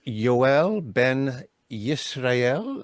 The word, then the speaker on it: Yoel ben Yisrael: this uh conversation is about your name it's yel Ben yel am I pronouncing that right oh that is that is